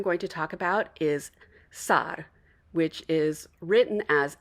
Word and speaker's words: Sarr: So you want a long A sound in the middle, and then there's a little tongue flip at the end with that R. Sarr. So not Sar, but Sarr.